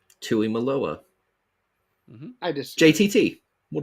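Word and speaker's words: Tuimoloau: I pronounced it right. I've been practicing. Debatable. And Jack Sawyers. It's Tuimalua. Tuimalua.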